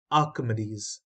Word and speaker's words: Archimedes: lemn Escape Rose spiral of Archimedes this is pronounced as Archimedes now these are the keywords these you may